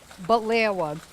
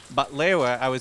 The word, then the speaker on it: Baklawa: Baklawa, she was telling me how to pronounce it right, is kind of like baklava.